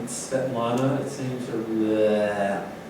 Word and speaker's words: Svetlana: But then I met Sviatek, and I found out that I was pronouncing it wrong. It's Svetlana, or Lana, or Lanska, or Sviatek, or Svietka, or Sviata.